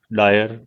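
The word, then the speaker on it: O'Dwyer: नाम था Michael O डायर। इनकी स्पेलिंग में ही फर्क है, वो जनरल डायर है, ये डॉयर है।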